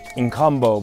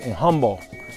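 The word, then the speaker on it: Nkombo: don't pronounce it right we always say inbo but it's really in HBO in HBO Island it's an island uh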